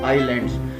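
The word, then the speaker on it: island: ओर से Z2 आयरलैंड इसको हम इसमें अयस्क को साइलेंट रखते हैं और बोलते इसको आईलैंड्स कि आपको बताया कि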